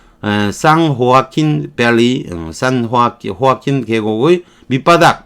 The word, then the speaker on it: San Joaquin: San Joaquin Valley. 스페인어로 J는 H로 발음을 하는 거니까 San Joaquin Valley, San Joaquin 계곡의 밑바닥, 바닥 이게 유일한 아래쪽인 거죠.